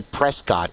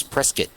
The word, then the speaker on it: Prescott: I mean, I say Prescott, but it's not. It's Prescat. That's how everyone pronounces it.